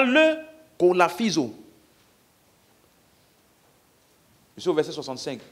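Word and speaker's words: κολαφίζω: Souffleter là c'est le mot kolaphizo. K-O-L-A-P-H. P-H-I-Z-O. Kolaphizo. Ça s'écrit vraiment comme ça.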